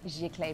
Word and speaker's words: Giclée: We use XI Clay printing. Um, which of course is fabulous to say, Jaclay printing.